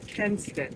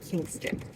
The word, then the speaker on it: Kinston: And now it's changed its um pronunciation to Kin- Kin like family Kinst- I keep giving the G. Kinston. Kinston.